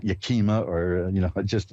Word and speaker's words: Yakima: get another reading in here uh Karen in Yakima Washington hi you're on with Reverend Elliott all right hi did I pronounce that right Yakima yeah because I know